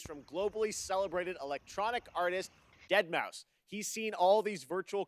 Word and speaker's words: deadmau5: is your good friend joel professionally known as deadmau5 yes that is the correct way to pronounce it hello friends we're here to talk